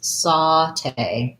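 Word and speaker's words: sauté: what i found was the way i pronounce it i saw this in some dictionaries is saute so this a you is like the same a you in the word cot sounds like ah and then in the dictionary you'll see this symbol for that ah sound saute saute it has second syllable stress because it comes from the french so my tay um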